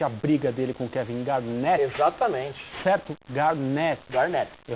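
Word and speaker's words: Garnett: tem sido interessante a briga dele com Kevin Garnet exatamente certo Garnet Garnet eu recebi recebi um eil é gnet a pronúncia correta E é verdade mesmo tá certo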